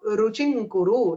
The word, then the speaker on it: रुचिं कुरु: So ruchim kuru has been changed to ruching kuru. That is how you have to pronounce in shlokas.